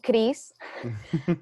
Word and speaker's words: Christ: um and then it's uh so it's kris oh yeah so how many times has it been butchered since coming over to america tons yeah